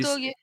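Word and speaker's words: Gotouge: Gotoge, comment ça se prononce? Peut-être que quelqu'un. Kotoge, C'est Kotoge.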